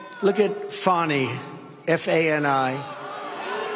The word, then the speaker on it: Fani: It's all — look at Fani, F-A-N-I. It should be pronounced Fanny. Fanny. Fani. Fani. They say she gets very upset if you call her Fanny.